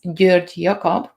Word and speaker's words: Gyorgyjakab: the same thing violet my last name in hungarian with the hungarian pronunciation is beard cob which is which sounds like a mouthful you have all the letters